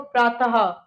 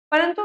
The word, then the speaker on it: प्रातः: जैसे ये देखो, प्रातः, ह की साउंड निकलती है, इसमें ह की ध्वनि निकलती है।